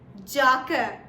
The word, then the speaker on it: Jacke: Now spelling of Jacke is J-A-C-K-E. Jacke. Okay, but Jacke is wrong. You have to pronounce it as Jacke, Jacke.